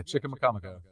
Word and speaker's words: Chicamacomico: I think I pronounced that right. Yeah, Chicamacomico.